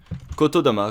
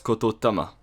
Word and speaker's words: kotodama: than just pronouncing them kotodama comes from The Words kototama which means word Soul Koto meaning word and Tama meaning soul but through a common process of Japanese language the T becomes D another good example